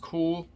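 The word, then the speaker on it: Kühl: this is another brand i think it's pronounced cool k-u-h-l this is a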